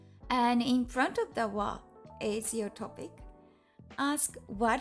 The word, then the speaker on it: は: It's written as ha, but it's pronounced W when it's particle.